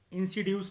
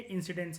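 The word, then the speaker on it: incidence: इंसिड्यूस नहीं है, ये इंसिडेंस है।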